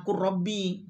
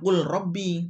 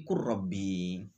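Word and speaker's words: قُل رَّبِّ: Nah, nanti bacanya itu adalah kurrabbi gitu. Bukan kul robbi tapi kurrabbi.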